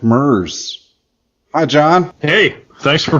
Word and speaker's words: Merz: we have John F mer hi John hey thanks for pronouncing the last name correctly did I sweet absolutely how does it how does it often mispronounced like Hertz rent-a-car ah I'm glad then